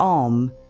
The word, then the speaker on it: Om: For Om, start with your mouth closed. Let the sound build in your chest before it comes out. It should feel like a gentle vibration rising up through your body.